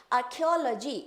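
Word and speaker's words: archaeology: आर्कियोलॉजी ए आर सी एच आर्क्योलॉजी आर्क बोल देंगे।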